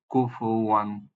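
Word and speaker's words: كفوا: দেন ওয়াও এর উপরে আমরা দেখতে পাচ্ছি তানবিন ফাতহা, এটার সাউন্ড হবে ওয়ান। লেখনের নিয়ম অনুযায়ী এখানে একটা আলিফ, তাহলে এটার উচ্চারণ হবে, সাউন্ড হবে ওয়ান, কুফু ওয়ান। এই শব্দটাকে আমরা কিভাবে তেলাওয়াত করব? কুফু ওয়ান, কুফু ওয়ান, হ্যাঁ, কুফু ওয়ান।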